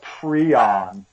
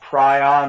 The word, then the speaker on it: prion: And it's a fatal brain infection, and it's caused by something called a prion. So it looks like it's spelled prion, but it's a prion.